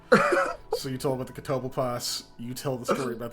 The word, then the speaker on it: Catoblepus: it's It was it starts with Catoblepus or Yes. Yeah. Catoblepus. Catoblepus. Or Kitty Bleepus, as you pronounce incorrectly, which is fun to say.